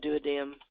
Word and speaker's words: duodenum: have that here anywhere chimes i've heard pronounced both ways just like duodenum and do a dam so chime or chyme wherever you want to pronounce it but it's a liquid